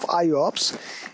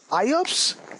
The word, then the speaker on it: IOPS: non continuous storage locations iops is pronounced like i ops this is not iops